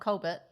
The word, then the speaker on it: Colbert: It's not Colbert.